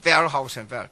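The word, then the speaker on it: Wellhausen: 웰하우센. 독일어는 W로 V라고 발음하니까. 영어로는 웰하우센이에요.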